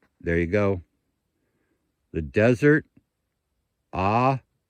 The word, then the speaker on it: Ajo: The Desert Ajo, spelled A-J-O, so the J is pronounced H, as in Hucumba, not Jacumba.